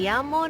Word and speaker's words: llamo: Dibacanya tuh double L itu kayak Y. Tapi kalau di Amerika Latin dibacanya tuh kayak J.